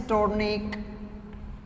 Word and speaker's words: tourniquet: What is this tourniquet? This tourniquet is that, what is the use of this tourniquet? UET, sorry. Here T is silent, tourniquet.